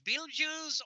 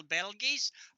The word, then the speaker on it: Betelgeuse: always used to pronounce I did kind of drop the long e so I always pronounced it Bell G's so as far as